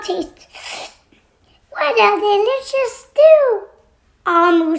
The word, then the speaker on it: Omu: Note to the reader, Omu pronounced Omu is the Igbo term for queen.